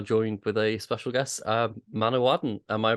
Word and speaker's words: Manawydan: Usually, if there's two D's, it's like a the sound, but it's only one, so it might just be Manawydan. And Y's make an I sound. So Manawydan, like a short I.